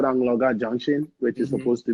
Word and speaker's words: Anloga: You're either saying Angola, Anloga, or all Yeah.